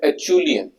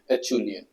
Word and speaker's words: Acheulean: V for Vishal, वो वाला VILIAN, Abbevilian, and Acheulean, ACHEULIAN, Acheulean.